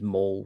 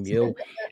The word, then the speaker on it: Mule: it's m it's actually everybody thinks it's mole right it's actually mule and it's actually my